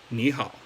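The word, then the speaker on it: 你好: Okay, so so when you're saying hello to somebody in Chinese, just make sure that the ni is pronounced as the second tone. Ni hao.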